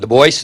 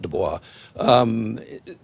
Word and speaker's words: Du Bois: And Du Bois, and that is how you pronounce his name, not Du Bois, basically what he said,